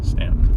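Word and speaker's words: Staunton: which is ston Virginia Stanton ston I never can remember how to pronounce it spelled like that but it's pronounced the other way say it again Stanton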